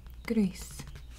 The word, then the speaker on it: gris: Or, as you would say in Spanish, gris. Gris. That is spelled G-R-I-S.